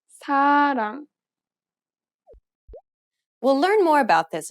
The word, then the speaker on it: 사랑: 사랑. 사랑. It sounds closer to an L than an R in English. Listen again carefully. 사랑. 사랑.